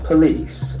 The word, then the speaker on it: police: The letter O has got a sound. Police. Police, and the accent falls on the second syllable.